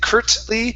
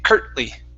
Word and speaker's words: curtly: We don't pronounce it. We say curt. My tongue goes to the top and it stops.